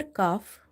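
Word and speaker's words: ك: But the other Kaf, which is not having dots, is light, and pronunciation place is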